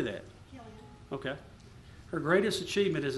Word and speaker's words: Killian: Killian.